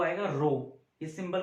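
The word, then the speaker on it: rho: ठीक है, तो देखो बच्चों, इस रोने वाले नंबर की या रोने वाले क्वांटिटी की बात करते हैं। ठीक है, resistivity symbol is pronounce as रो।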